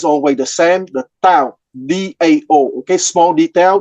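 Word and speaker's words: Dao: the same, the Tao, D-A-O, okay, small detail, the D in the pinyin transcription system is pronounced like a T, okay, but it's a D.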